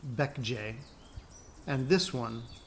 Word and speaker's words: Baekje: The kingdoms were this one, pronounced Goguryeo, this one, pronounced Baekje, and this one, pronounced Sheila, you know I want to be the only one.